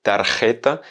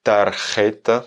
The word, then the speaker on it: tarjeta: On enchaîne avec notre cinquième mot qui est tarjeta.